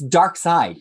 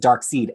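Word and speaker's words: Darkseid: about dc with anybody it's dark side even though you might think that it's pronounced dark seed as i still pronounce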